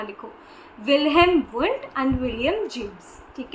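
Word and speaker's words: Wilhelm Wundt: Be very precise when you pronounce it even ताकि आप गलत आंसर्स ना दो एंड गलत स्पेलिंग्स ना लिखो। विलहम वुंट एंड विलियम James.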